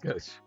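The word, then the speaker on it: Gauche: In case you ever see that name, now you know it's pronounced Goch.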